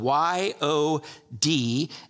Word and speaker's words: yod: section 10 is uh the Hebrew letter is spelled yo D and it's pronounced yod so let's read it